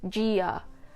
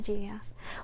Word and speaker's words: Gia: Gia is actually not pronounced Gia. no hard G. It's not Italian, by the way. I always get asked if I'm Italian. Io sono Gia.